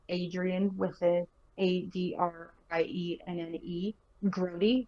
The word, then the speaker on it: Grody: Just spelled like Adrian with a Adrienne, Grody, like as in that's Grody, you know.